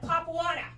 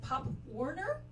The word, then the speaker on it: Pop Warner: yeah where I'm from we call that pop water and I heard some kids at college call it Pop Warner and I was like what kind of idiot college excuse me you're saying it wrong okay it's pop what guess I shouldn't have